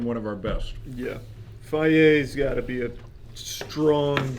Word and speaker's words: Fage: This is Fage. Is that not how you say it? It's fier. Yeah.